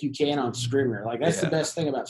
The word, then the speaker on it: Scrivener: Scrivener, yeah.